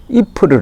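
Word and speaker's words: Ieper: 열로 표기로 는 y pres 잎을 s 이렇게 발음이 되는데 이 곳에서는 이 푸르 라고 부릅니다 이 풀을 하면은 저 전사에 관심을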